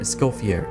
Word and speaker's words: Escoffier: Escoffier.